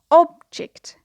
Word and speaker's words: object: So here, an object, the stress is on the first syllable.